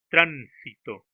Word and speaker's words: tránsito: Por ejemplo, tránsito. To es la última sílaba, si la penúltima y tran la antepenúltima sílaba.